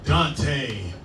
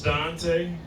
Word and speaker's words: Duante: to the Finish Line my name is Dante uh it's spelled all up though yeah it's d u a n t e so I get everything from Dante to dant you get Dwayne once in a while